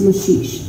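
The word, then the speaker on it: Maxixe: It was called the Maxie, pronounced Mashish.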